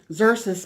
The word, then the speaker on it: Xerxes: Xerxes made her queen.